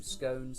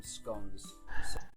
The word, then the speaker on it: scones: like scones to me even within the uk we have two variants on this word some people call them scones some people call them scones see i thought scones